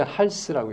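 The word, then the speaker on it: ἅλς: 이거 그릭 헬라어인데 읽을 때 할스라고 읽습니다.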